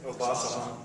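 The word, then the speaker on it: Obasohan: Obasahan. Obasahan is special.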